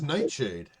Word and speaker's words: Nightshade: sounds like first syllable her name is Nightshade one word oh that night shade like the poison well thank you Nightshade